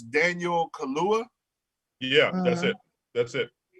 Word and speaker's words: Kaluuya: And the fact that the actor, I'm not sure how to pronounce his last name, but it's Daniel Kaluuya.